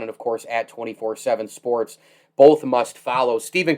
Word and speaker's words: 247Sports: Do they say 247 more or 24/7? Which one do they use more? 24/7. It is 24/7.